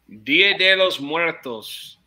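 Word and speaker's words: Día de los Muertos: Which country is well known for celebrating Dia de la Muertos? That's close. Dia de los Muertos.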